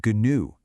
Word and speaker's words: gnu: It shares its exact pronunciation with gnu, the animal. New as in I knew that and new, a letter in the Greek alphabet.